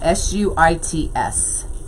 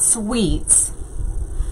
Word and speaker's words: Suits: Yeah, S-U-I-T-S. How do you say it? Am I saying it wrong? Not Sweets, but Suits.